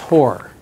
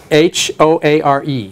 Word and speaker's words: Hoare: His last name is pronounced Hoare. Hoare.